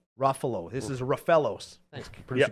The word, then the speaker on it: Ruffalo: how do you say the Hulk actor's name Ruffalo Ruffalo this is rafos thanks producer Gary yep ruo